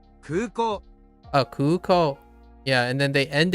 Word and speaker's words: 空港: So kuko, I think it's kuko. Instead of, I keep saying kuko. So every time I pronounce it, it was like kuko. But it's kuko, right? 空港 Oh, kuko.